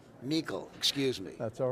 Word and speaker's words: Meikle: I'm good, but my name's pronounced Meikle. Meikle, excuse me. That's all right. So if you want to Why start is it that spelled over, the way it is then? because it's Scottish and not German.